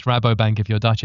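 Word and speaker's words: Rabobank: and how to pronounce Rabo Bank and where we can follow your work. Sure. Well, for us it's Rabo Bank.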